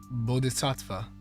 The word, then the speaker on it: Bodhisattva: How does it pronounced? Bodhen satva. Bodhisattva.